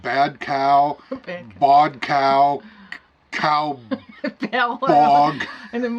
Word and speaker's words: Bodcau: I mean, Tom Merrill I can pronounce, but Bodcau, we pronounce that bad cow, bodcow, cow bog.